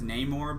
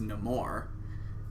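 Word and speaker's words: Namor: as well in the most people prefer to him as neymore but in the movie he is pronounced his name is pronounced as no more whatever so not sure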